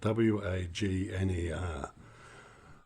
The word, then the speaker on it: Wagner: Uh, what we got here is a Music Masters Radio Company model Vagnner. That's spelled W A G N E R.